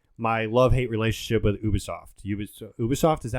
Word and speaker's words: Ubisoft: Ubisoft, is that how you say it?